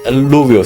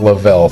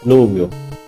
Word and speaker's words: Liouville: Liouville theorem. Louville. Liouville equation. Not Lavelle theorem. Liouville.